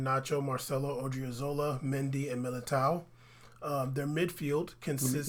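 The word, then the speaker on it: Militão: Carvajal, Ramos, Varane, Nacho, Marcelo, Odriozola, Mendy, and Militao. Their midfield consists... You gotta say it like the way you're supposed to. Militao.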